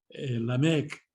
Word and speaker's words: Lamec: En español, cuando se termina en consonante, el acento va en la última, ¿no? Mejor, terminal, aquí esto es Lamec, el acento en la última.